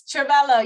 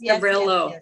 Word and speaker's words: Trauvello: Yes, Trevello, yes. Trevello, yeah, so I've already added all those in.